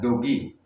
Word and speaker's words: Doge: Bacanya bukan dogi maupun doge, tapi bacanya dogi. Jadi ini perlu kita luruskan. Kadang masih banyak yang membaca itu doge atau doge. Jadi di sini sudah saya pastikan bahwa doge itu dibaca dogi.